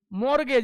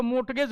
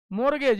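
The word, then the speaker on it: mortgage: मतलब क्या होता है मॉर्गेज इसमें टी साइलेंट होता है कुछ बेवकूफ इसको मॉर्टगेज बोलते हैं ठीक है what is this this is मॉर्गेज ये टी होता है साइलेंट इसम का ठीक है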